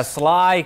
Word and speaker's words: Schley: was in making to play the truth yeah Sly County learned that pronunciation just recently they went 10-2 a year